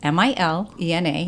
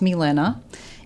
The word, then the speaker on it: Milena: It's spelled M-I-L-E-N-A. In Portuguese, it's pronounced Milena. In American, people call me Milena, and that's fine.